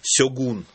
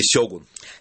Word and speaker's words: Сёгун: Конечно, большинство из тех, кто про него хоть что-то знал, знакомы с романом Джеймса Клавелла «Сёгун» или «Сёгун». Нет у них прямого ударения. И то, и то правильно.